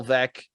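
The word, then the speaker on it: Veeck: anything written on bill veck it'll you'll probably mispronounce his name because it's spelled veek but his autobiography was was called vec as in wreck and he was the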